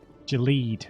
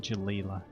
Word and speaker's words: Jaleed: to mispronounce his name jaleed not jaleela hello again did you